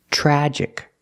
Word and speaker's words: tragic: The TR makes a ch sound like chicken. Plus the R together, chur, chur. Tragic. Use the short A sound like black cat.